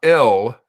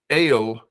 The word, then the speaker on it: El: but that is the the word God not L it is not L with a short e it is ale with a long e sounds like a long a so the name ale